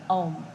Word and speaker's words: Om: simple vocal resonance practice by chanting Om. Okay? So we use 3 syllables, A, U, and N.